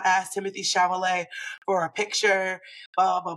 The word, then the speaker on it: Chalamet: Chalamet? Chalamet, I believe.